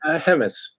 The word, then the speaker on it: Hemmes: Is that how we pronounce it? Hemis.